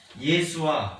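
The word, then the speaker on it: ישוע: 히브리어로는 여호수아, 예수아 이 정도 발음되었습니다.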